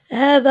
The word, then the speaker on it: هذا: هذه هي كتابتها الصحيحه هذا فضاء طبيعي للحفاظ على التنوع البيولوجي ايضا كلمه هذا كما راينا سابقا انها تكتب بدون الف رغم نطقنا للالف اذا هنا لدي هذه